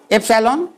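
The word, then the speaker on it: epsilon: Pronunciation में देखिए अंतर है, एप्सिलॉन, यह है अपसाइलॉन।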